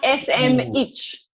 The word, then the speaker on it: Smith: name properly I knew it's not that snitch snitch it's like SM itch I've got an itch for a switch right looking gorgeous can